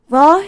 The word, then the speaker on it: hva: Hva is the word for what, and Norwegians, in these kind of words, they don't pronounce the H, it's just ye, so hva.